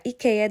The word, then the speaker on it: IKEA: nga po natin ay ang IKEA or IKEA IKEA daw po ang tamang pronunciation dito ha Baka ma-bash na